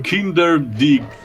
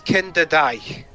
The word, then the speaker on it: Kinderdijk: It's Kinderdijk. Thank you. Like again, I couldn't pronounce it for saving my life. I got it because there's a footballer you pronounce his last name, Virgil van Dijk.